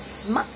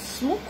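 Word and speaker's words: smuk: It's not pronounced as smuck, it's smoke.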